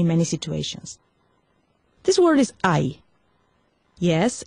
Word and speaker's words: hay: This word is ay. Yes, it's pronounced with an H, but remember the H is mute.